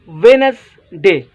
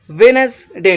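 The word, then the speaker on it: Wednesday: so let's start first of वाला word आए वेडनेस डे वेडनेसडे ठीक है अक्सर स्टूडेंट्स के वेडनेस डे पद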